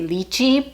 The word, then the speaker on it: lychee: look it up and it is pronounced both ways depending on where you're from so we're going to